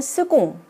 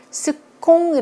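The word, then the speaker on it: seconde: 여성으로 만들어 주면 되겠어요 두번째 스공 을 요구 발음의 굉장히 자주 나오는 건데요 스 콩이 라고 하시면 안됩니다 그럼 여러분들 영어에 익숙하여 가지고 이거를 세컨드 때문에 크로 하는데 온 그 로 발음이 나는 단어 에요 그래서 첫 번째와 두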